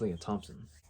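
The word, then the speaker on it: Lea Thompson: would have passed away well i was saying her name wrong it's leah thompson but i think it'd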